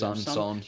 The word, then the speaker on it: Son: Again, I read that Son, how do you pronounce it? Son.